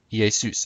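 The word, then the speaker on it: Ἰησοῦς: been pronounced ea soos ye soos again the accent is on soos zeus would have been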